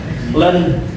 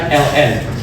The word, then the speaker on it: ln: Ini dibacanya len bukan ln tapi len x.